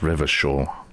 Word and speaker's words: Revachol: So there's where it said that that's pronounced Revachol.